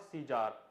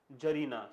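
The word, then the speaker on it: tsar: First of ऑल the pronunciation is जार, नॉट सीजार और सीजर।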